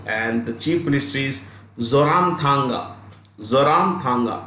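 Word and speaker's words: Zoramthanga: know is isol and the chief Ministry is zoram Tanga zoram Tanga z o r a m t h a n g a zaram Tanga okay Manipur manipur's capital is inal and the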